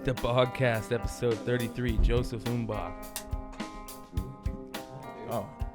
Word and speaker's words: Mbah: The Bogcast, episode 33, Joseph Mbah.